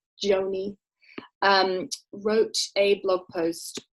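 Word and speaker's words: Gjoni: um so somebody called aaron joney i think you pronounce it joanie um wrote a blog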